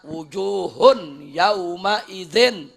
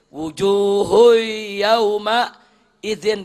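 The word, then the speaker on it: وُجُوهٌ يَوْمَئِذٍ: Seperti orang baca wujuhun yauma idzin. Udah nggak ada idghamnya tuh. Mestinya wujuhui, kan begitu mestinya. Wujuhui yauma idzin, dia bacanya wujuhun yauma idzin, makruh.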